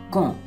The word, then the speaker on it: quand: Quand, Quand is pronounced as quand. D is silent in this.